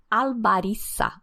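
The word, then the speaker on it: albariza: o ar-condicionado de rerez albara escreve com z mas pronuncia como S porque em espanhol não tem o som de z Então para de falar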